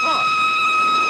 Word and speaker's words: Froy: My name's Froy. Did you say Froy? No, not indeed. Froy. I'm sorry, I can't hear. It rhymes with joy.